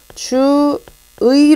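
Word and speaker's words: 주의: 이 도 가능 2 그러면 얘는 발음을 어떻게 안 경우 적절한 야 주 의 로 발 많은 것이 일단 원칙이다 그런데 즉 v 로 발음하는 것도 가능하다 허용되는 표준 발음이 달하는 것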